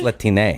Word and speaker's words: Latine: So that's out, but they've created a new term, Latine. Latine is the new term they want to use. Latine. Not just Hispanic, not just, is it Latine? It's Latine.